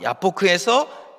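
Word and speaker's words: יבק: 근데 이것을 이제 히브리어 발음으로 하면 야곱은 야콥이라는 이렇게 발음이 되고 야복은 야복라는 이제 이런 발음이 되고 씨름하다는 아바크라는 단어입니다. 그러니까 야코브가 야포크에서 아바크했다 하면은 뭔가 이제 언어의 유희를 사용해서 이 본문이 시작되고 있다는 것을 알 수 있습니다.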